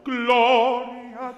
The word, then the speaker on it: Gloria: Good, what's the emphasized syllable here? Glo, right? Gloria, Gloria tua.